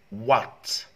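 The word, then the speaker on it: what: لاحظوا هنا يا وات، وات وكأنه غير موجودة. أوكي وات راح تكون سايلنت، صامتة، سايلنت H.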